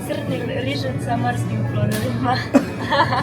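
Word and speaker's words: rižoto sa morskim plodovima: How do you say it? Rizhot sa morskim plodovima. That's pretty similar.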